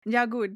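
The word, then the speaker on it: Jaghut: So next the the jagot the how do I say it jagut that's my way of pronunciation I will die on that hill uh the jagut who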